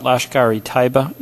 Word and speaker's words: Lashkar-e-Taiba: I want to talk a little bit about Lashkar-e-Taiba. Am I pronouncing that right?